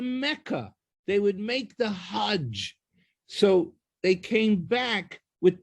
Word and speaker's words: Hajj: They were going to Saudi Arabia, to Mecca, and doing the Hajj. And he actually explained that the Egyptian pronunciation of the J sound, it's not really, they don't say Hajj, they say Hag.